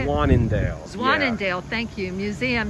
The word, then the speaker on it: Zwaanendael: Zwaanendael.